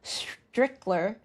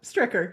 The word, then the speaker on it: Stricker: My guest today is Strickler. Did I pronounce it correctly? Close enough. Stricker.